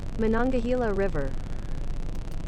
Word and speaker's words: Monongahela: non gahila Gila River let me see uh pronunciation let's see if we can get the rights uh saying for this Monongahela River Monongahela Rivera river monongahila river okay that that's